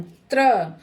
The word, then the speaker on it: त्र: देखिए बोलते भी हैं हम त्र। र का पूरा उच्चारण करते हैं।